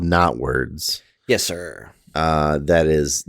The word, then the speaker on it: Knotwords: about a game called not words okay and this is all one word okay and it is spelled k n o t ah not words okay when you look